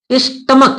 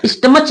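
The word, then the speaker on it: stomach: अब जैसे इसका एक उदाहरण, क्या, स्टमक, स्टमक, यहां स्टमच नहीं पढ़ा जाता, स्टमक।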